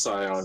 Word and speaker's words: scion: banner yeah yeah and it's pronounced scion but i don't know